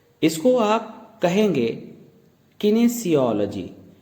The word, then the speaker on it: kinesiology: इसकी प्रोनाउंसिएशन हमने आपको ग्रीन कलर में दी हुई है। इसको आप कहेंगे किनेसियोलॉजी।